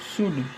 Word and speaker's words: should: Bose believed that our attitude बोलते हैं इसको, एटीट्यूड भी बोल देते हैं, एटीट्यूड शुड, एल साइलेंट होता है, यहाँ सीधे हम शुड पढ़ेंगे, शुड बी वन of determination if we want to achieve our goal.